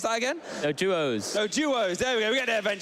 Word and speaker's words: Doduo: Dodos. How do you pronounce that again? Doduos.